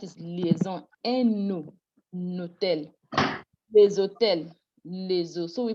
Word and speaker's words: les hôtels: Normally, this S is not supposed to be pronounced. When the word is alone, les, you don't pronounce the S. The S is not pronounced. That's liaison. But when you have with a non-aspirated H, the S is now pronounced, but it gives a Z sound.